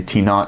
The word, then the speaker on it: T naught: just as an example we pronounced it t not for the stagnation temperature so if I want this stagnation temperature I say T naught stagnation pressure P naught